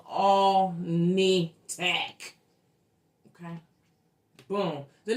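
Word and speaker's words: Alnitak: We I mispronounced this name of this planet. Okay. I call it all snack. The name of the damn planet is all nitac. Damn near close, but it's all nitac.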